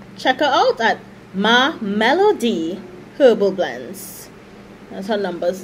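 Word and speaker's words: Mellodee: And Melody is spelled M-E-L-L-O-D-E-E, Melody.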